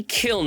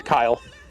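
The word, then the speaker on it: Kyln: Oh my God, everybody pronounces Kiln a different way. It's gotta be Kiln, right? K-Y-L-N, Kiln. No, it's Kyle. That's how you pronounce it.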